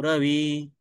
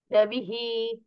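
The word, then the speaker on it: रविः: ज्ञानोमित चक्षुसाम अज्ञानम नित्यमस्तमितो रवी रवीही रवी रवीही रवी okay विसर्ग का उच्चारण छूटन जाय सुप्रभात जिनद्राम ज्ञानोलित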